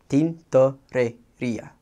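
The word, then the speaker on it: tintorería: It starts out T-I-N, so you would pronounce it tin, T-O-R, tor, and then E-R, rer, I-A, ia, tintoreria.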